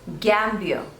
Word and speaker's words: Gambia: Next is Gambia, Gambia. So there are 2 syllables and you have to stress on the first one.